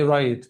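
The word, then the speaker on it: write: اسمها رايت رايت طيب ملحوظه الدبليو مع الار في اي كلمه مش بنطق الدبليو سايلنت يبقى دي رايت وطبعا الاي مع الماجيك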